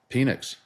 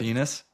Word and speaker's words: Penix: watch Penix. Is that how you say it? Penis?